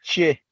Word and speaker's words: Tchie: It's Che. Yes. Yeah, that's the original name of Mata because they recently had a festival and I saw the sign and it's spelled Tchie.